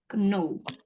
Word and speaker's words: know: K-nya nggak dibaca ya. Know. Bukan know ya.